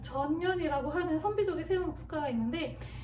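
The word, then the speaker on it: 전연: 세운 저면이라고 하는 국가인데요이 전현이 전면 발음 조심하셔야 돼요 전년이라고 하는 선비족의 세무 국가가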